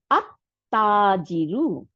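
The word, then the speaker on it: التاجر: এখন আসি তা, কারণ লাম উচ্চারণ করব না, লামটা গিয়ে তাকে, তার সাথে মিলে যাবে এবং তাকে ডবল করে দিবে, তাহলে আত তাজিরু, দেখছেন?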